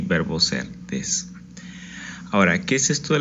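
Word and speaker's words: です: dos letras se pronunciarían desu, ¿verdad? Por lo que ya sabemos, pero en realidad no vamos a pronunciar la última u, sino vamos a pronunciar des.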